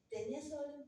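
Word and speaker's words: Taenia solium: Pero siempre les digo cómo se escribe, porque como se escribe realmente es Taenia, se lee Tenia. Entonces están Tenia solium, Tenia saginata y Tenia saginata asiática.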